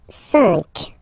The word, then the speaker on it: cinq: So you get this Q, U, A, but then the sound that you will pronounce is K, okay? Quatre, quatre. All right? And next, cinq, cinq, cinq.